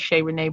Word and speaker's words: Shayrenee: So my performing name is Shayrenee, but my first name is Shahara, and a lot of people Shahara, and a lot of people mispronounce it.